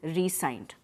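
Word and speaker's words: re-sign: In resign, re hyphen sign, the S is pronounced as an S. So in the previous occasion, the S was pronounced as Z. Over here, when we are including a hyphen between re and sign, this sign is pronounced, the S is pronounced as S only, and you emphasize the first syllable.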